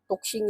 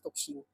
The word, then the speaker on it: Tuxing: So again this this brand is ano toxing toxing yata yung proper pronunciation in Chinese toxing and again um solid